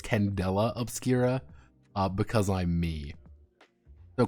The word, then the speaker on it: Candela Obscura: no on four I I kept pronouncing it candelabra even though it's Candela obscura uh because I'm me